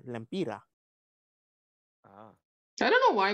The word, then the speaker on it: Lempira: We say lempira. Ah. I don't know why, but it sounds cute. Lempira. Lampira. Stop butchering it, Smoke. No. Lempira.